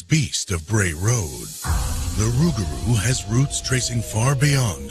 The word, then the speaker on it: rougarou: got an American makeover rugaru kind of sounds almost like a butchered pronunciation of loop Garo the rugaru we get that from the Cajun accent everything kind of just gets smoother when you get to Louisiana when the legend moved